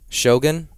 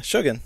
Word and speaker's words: Shogun: hearing all about it why do you pronounce it like that because I think you're supposed to yeah Shogun it's not Shogun no because I think I said that and then in the show they said Shogun oh okay I've always